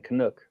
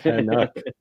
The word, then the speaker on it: Canuck: So early on, I was saying, I was saying Canuck, right? And you were making funny how I was saying it. Yes. You're like, it's not how you say it. Canuck.